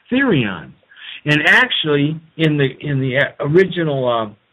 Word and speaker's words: therion: And it's pronounced Therion.